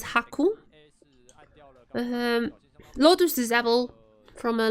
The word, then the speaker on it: Haku: 9 is Q in Japanese. That's how Haku comes. Pronounced as Haku.